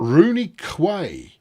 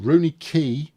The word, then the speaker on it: Rooney Quay: You got Rooney Quay. No, not Quay. Come on, you know better. It's Rooney Key.